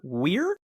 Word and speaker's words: Weir: Role for Ed Harris, Best Director as Peter Weir. That's how I pronounce the name?